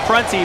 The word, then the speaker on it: Prunty: line to shoot too by the way it is pronounced prancy but you know he's